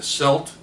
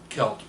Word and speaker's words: celt: It's called a rattleback or a celt, and I prefer to pronounce. Some people will say a celt, um, and I prefer celt, and so which causes confusion sometimes.